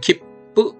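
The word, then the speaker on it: きっぷ: 키프보다는 키뿌 이런 식으로 바음이 되고요.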